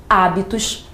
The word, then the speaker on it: hábitos: primeira questão as palavras hábitos e físico Observe que nessas palavras o acento está aparecendo na anti penúltima sílaba se o acento